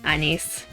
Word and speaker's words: Anis: It's naon and like anise. Technically anise. Then there's Americans saying anis. But Anise, I typically go with the Japanese pronunciation because that's what I hear 24/7.